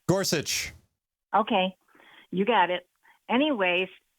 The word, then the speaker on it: Gorsuch: thing I have to discuss is this judge gorch how do you pronounce his name Gorsuch okay you got it anyways since Trump likes